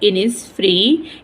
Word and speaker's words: Innisfree: the lake oil ऑफ इनस फ्री इनस फ्री एक जगह का नाम है इसमें एस साइलेंट है इसको पढ़ेंगे द लेक